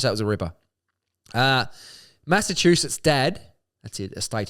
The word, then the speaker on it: Massachusetts: Massachusetts. Yeah. Oh, it's not the soft ch, it's the hard ch. Chew. Yeah. Chew.